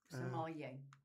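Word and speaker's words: sommelier: Somalier. Oh, Somal. Okay. I don't know nothing about wine. wasn't sure how you pronounced that.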